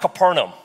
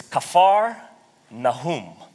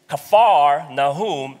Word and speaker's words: Capernaum: we pronounce this city we butcher a lot of the hebrew words and this is one of them it's not capernaum it's kaffar nahum kaffar nahum means village of comforter village of comforter the